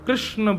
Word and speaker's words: कृष्णा: कहा करते हैं कि भगवान का नाम उच्चारण करना है तो कृष्ण बोलो कृष्ण और यदि द्रौपदी का उच्चारण करना है तो कृष्णा बोलो अकार आ की मात्रा लगाओ संपूर्ण महाभारत के पात्रों